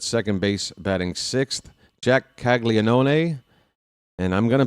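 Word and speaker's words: Caglianone: They say Kaggleó, but uh that's not a silent n O in there or a silent a. There's there's another syllable in there and they're just going to ignore it.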